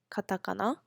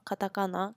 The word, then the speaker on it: Katakana: three major writing systems which are called hiragana Katakana kanji hiragana and Katakana are basically um called the Kana system is the pronunciations of the words so if you wanted